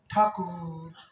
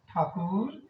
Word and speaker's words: ঠাকুর: আমরা এভাবে বলি না ঠাকুর ঠাকুর ঠাকুর আমরা ঠা টা নিচে বলি কু টা আরেকটু ওপর স্বর র টা আরেকটু উপর স্বর ঠাকুর এই ঠাকুর বলার মধ্যে